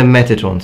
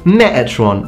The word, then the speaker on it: Metatron: So, Metatron, you might ask. I'd appreciate the T pronounced there though.